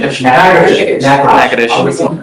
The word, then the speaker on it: Natchitoches: I butchered the pronunciation, but Natchitoches. Natchitoches. What is it? Natchitoches.